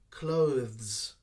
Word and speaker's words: clothes: sound clothes clothes so the th is very short sound followed by a quick z sound clothes all right you need